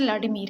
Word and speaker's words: Vladimir: और इसी तरह से व्लादिमीर, यहाँ पे जो व्लादिमीर नज़र आ रहा है इसकी प्रोनाउंसिएशन व्लादिमीर है।